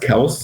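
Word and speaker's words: Kelce: that is it's pronounced kels kels it's not weird but no one's gonna ever call him that ever ever yeah he's like yeah it's it's pronounced kels but they call me kelsey so i just kind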